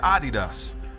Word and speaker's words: Adidas: Yes, I said Adidas. That's the correct way to pronounce Adidas if you didn't know.